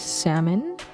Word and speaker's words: salmon: back in on this salmon salmon salmon you know for years I used to pronounce the L cuz that's how my mom says it in English I don't know is